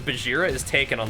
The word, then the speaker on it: Bajheera: doing the show i was like it's it's bajira i think yeah but it should be bagheera like where it comes from i think your